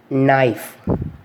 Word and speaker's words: knife: K is not pronounced when it come before N, letter N. For example, knife, no, knee, knock, not, knowledge, knuckle. Here the spelling of the knife is KNIFE, but simply we are saying NIFE sound.